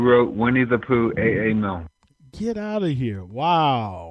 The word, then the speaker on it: Milne: Well, in New Orleans, Milne Boys' home was not too far from where I live, but they pronounce it Milne in New Orleans, and as well as there's a Milne Boulevard in Lakeview.